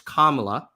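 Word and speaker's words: Kamala: can't come up with it's kamla by the way it's kamla okay you could pronounce her name it's not hard uh you can't pick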